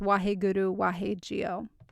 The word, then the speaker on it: Wahe Guru Wahe Jio: o j i o I'm sure you'll find other spellings out there people are just phonetically trying to make it match how it sounds but it's wah Guru wah Gio so the direct translation